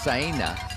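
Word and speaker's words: Saina: scout the course let me touch on betsy cyna is the way she likes to pronounce her name spelled s-a-i-n-a but from kenya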